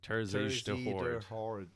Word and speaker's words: Terzij de Horde: Pronounce it there, Ralph. Tourism. Terzij de Horde.